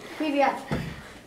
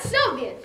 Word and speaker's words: Привет: Привет. Not Soviet.